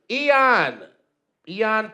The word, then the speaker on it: Eoin: All right, so 15 is Eoin Patrick.